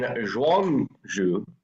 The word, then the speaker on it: Zhuangzi: for philosophy established by Lao Tzu and Zhuangzi. I know it's ZI, but that's how it's pronounced.